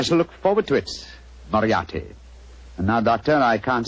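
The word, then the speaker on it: Moriarty: People will either misspell it or mispronounce it. I'm afraid I'll have to begin calling it the way it looks. M-O-R-I-A-R-T-Y. Moriarti. Moriarti.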